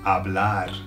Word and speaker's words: hablar: Because talk is hablar, hablar. Now, bear in mind that the H is silent. When words start with H in Spanish, they're silent, so it's hablar, all right?